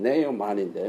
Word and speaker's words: 나만: 자, 그러면 나만은 어떻게 해야 되느냐? 어떻게 해야 되느냐? 그렇게 파워풀한 사람이 파워레스한 사람이 됐어요. 그래서 제가 이제 이 말씀을 옛날에 준비하면서 내린 결론이 그거예요. 나만, 영어식으로 발음은 네오만인데 뭐 어떻게 나만 was a powerful powerless man.